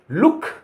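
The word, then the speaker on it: look: अब यदि ओ दो बार आ जाए तो उसको कैसे कहेंगे? उसका उच्चारण होगा उ। जैसे एल डबल ओ के लुक, लुक माने देखना।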